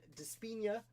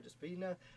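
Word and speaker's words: Di Spigna: Author of one of my favorite books, Founding Martyr, Christian Despina, who apparently, his name I've been pronouncing incorrectly for 4 years publicly on this channel. Sorry, Mr. Despina. The G is silent.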